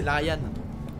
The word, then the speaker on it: Larian: Non, c'est Larian. Larian, bon, on s'en fout. Ouais, moi, je suis toulousain, je prononce toutes les lettres.